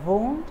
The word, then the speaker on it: wound: three different pronunciations here as a noun it is wound as in when you get hurt and the adjective is